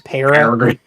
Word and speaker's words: Peregrine: I mean, it's probably just the southernness of me, but I pronounce this as Peregrine.